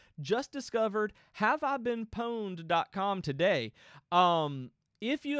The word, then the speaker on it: Pwned: have I been poned it's spelled exact like have I been owned but with a P instead of an O um my friends in